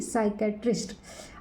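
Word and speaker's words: psychiatrist: eighty R आय एसटी सायकट्रिस्ट आता सायकटिस्ट म्हणजे याच जी स्पेलिंगची सुरुवात आहे ती पी ने झालेली आहे एस ने झालेली नाही लक्षात ठेवायच सायकट्रेस्ट असं त्याचं इंग्रजीतून नाव आहे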